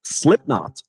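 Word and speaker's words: Slipknot: Slipnot. The bat. The K is silent.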